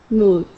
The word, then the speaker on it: mood: All right, so here, your D sound, your tongue is actually being pressed against the back of your teeth. So let's say these are your teeth here, right here in front. Okay, you're pressing your tongue against the back, and you're saying mood.